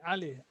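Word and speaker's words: علي: Ali. Yes, the pronunciations come somewhere down the throat. You say Ali, Abdi, right? So make sure you widely open your throat.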